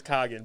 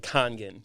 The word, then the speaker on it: Kangen: nuts oh us yeah it's always kagan but it's supposed to be like kangen khan you gotta pronounce that n it's very important to me i know it